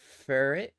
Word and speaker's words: Furret: Uh, furret. Furret. H. Okay, that's how to pronounce it.